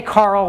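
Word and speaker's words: Karel: in the room but closer to the actual pronunciation but we say Carol these days because it's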